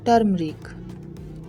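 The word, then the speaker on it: turmeric: टर्मरिक, टर्मरिक, हल्दी, यहाँ पे ई साइलेंट है।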